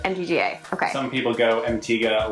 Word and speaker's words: MTGA: MTGA.